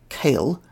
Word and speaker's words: kale: they did have loose leaf coals the Scottish pronunciation kale is still used for one type the earliest